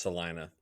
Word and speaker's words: Salina: It looks It looks Yeah, it looks like Selena, but it's pronounced Salina.